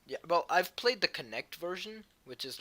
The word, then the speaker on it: Kinect: I'm pretty sure it's supposed to be pronounced Connect, and it's like kinetic, so K and stuff.